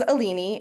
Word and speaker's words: Alini: Uh my name is Alini. It rhymes with panini.